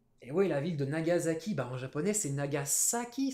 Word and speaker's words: Nagasaki: japonais banzaï nagasaki et oui la ville de nagasaki bar japonais sénat gaza qui ça s'écrit avec un ace alors nous as as